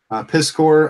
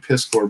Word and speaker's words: Piskor: Ed Piskor, Piskor, I think he pronounces it actually.